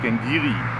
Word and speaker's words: Glen Garioch: Und er meint, es wird Glengarioch ausgesprochen, weil es ihm halt gälisch ist. Obwohl ich der Meinung bin, irgendwo hätte ich gelesen, dass es örtlich tatsächlich Glengiri ausgesprochen wird.